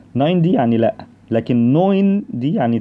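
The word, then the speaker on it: neun: رقم 9 التركيبه دي بتتنطق اوي، يبقى دي نوين، اوعى تقول ناين ناين يعني لا.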